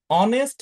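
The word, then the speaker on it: honest: এইভাবে তুমি যখন বলছো অনেস্ট ম্যান my father is ডশ অনেস্ট ম্যান এখন অনেস্ট এই জায়গাতে এইচ তো হ এর মত উচ্চারিত হচ্ছে না এইচ এর উচ্চারণ হচ্ছে অর মত যেটা একটা সরবর্ণ ভায়েল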